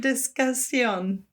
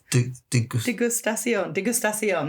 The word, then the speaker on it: degustation: How do you say it? Disgustion. Degustation. That's it.